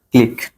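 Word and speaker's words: click: ঠিক আছে এম ও এস কিউ ইউ ইটার উচ্চারণ কি কমেন্টে জানান ঠিক আছে এরপর আছে যে সি এল আই কিউ ইউ ই ক্লিক এরপর আছে যে চেক সি এইচ ই চেক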